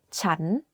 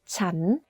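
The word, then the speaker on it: ฉัน: sentence has different sounds the word chan is pronounced first at a lower pitch than a sense to perfect this tone think about when you ask a question in English this turnone is quite similar to that the question for this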